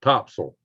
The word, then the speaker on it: Topsail: what are you talking about Anton right here Topsail Beach Now spell tops up the locals pronounced at topsoil yes I was yeah riding this areas where